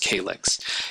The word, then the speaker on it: kylix: If you know that it has, it's a sort of shallow bowl that we see represented here, that's a kylix. I've also heard it pronounced calyx.